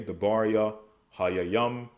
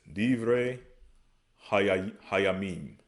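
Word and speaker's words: דברי הימים: So the book of Chronicles in Hebrew is the matters of the day, Debaria, Hayayam.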